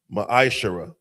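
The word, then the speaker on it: ma'aser: Tithe, which is a commandment, book of numbers 18 21, book of Malachi 3 8-10 means 10th in the Hebrew, it's pronounced maisher.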